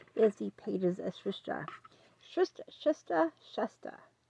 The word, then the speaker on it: Shasta: Shasta. Like mustard without the RD.